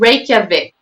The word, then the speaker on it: Reykjavik: bit difficult to pronounce as well and to spell it so i will help you out it's called reykjavik and the spelling is r e y k